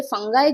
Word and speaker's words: fungi: अब ये फंगाई जो है ना, इसका प्रोनाउंसिएशन फंगाई भी होता है, फंजाई भी होता है। ये ब्रिटिश और अमेरिकन इंग्लिश में अलग अलग है ना। सो आई एम यूजिंग फंगाई। ठीक है। दोनों प्रोनाउंसिएशन सही है, दोनों गलत नहीं है। फंजी कुछ नहीं होता है, फंजी इज a wrong pronunciation of course.